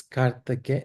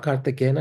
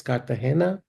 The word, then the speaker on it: Cartagena: Heather correcting my pronunciation says it's Cartagena. It's not Cartagena, it's Cartagena, correct? It's G is an H.